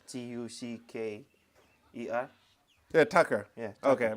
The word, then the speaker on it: Taka: But it's pronounced like Tucker.